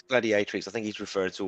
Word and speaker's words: gladiatrix: And Darth Plato reminds me it's Gladi A Tricks. Am I saying it right, Russ? It's gladiatrix.